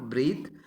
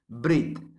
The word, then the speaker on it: breathe: hope or fear i helped my breath not breathe breath the character pronunciation of this word but it is a